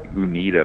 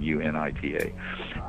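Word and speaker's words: Uinta: out someplace in the Unita mountains I think is how you pronounce them U nit ta and this thing floating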